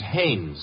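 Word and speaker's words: Haines: used to fish out no no no not Hines hannes couldn't be Huntingburg no it couldn't be the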